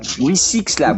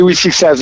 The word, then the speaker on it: We6 Lab: We6 Lab, oui, c'est comme ça qu'on prononce. On dit We6 Labs, ouais, très bien.